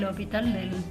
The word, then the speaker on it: L'Hôpital: publicaciones que él hacía firmaba como l'hospital, aunque esa S no se pronunciaba, ¿sí? Acá dice l'Hopital, pero escrito de una manera diferente.